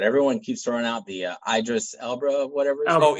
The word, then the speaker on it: Idris Elba: I know I'm going to, but everyone keeps throwing out the Idris Elba, whatever. Idris Elba.